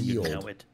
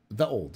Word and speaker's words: ye olde: When you see ye olde, it is pronounced the old.